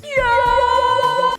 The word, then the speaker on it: 요: It's pronounced yo, which is amazing.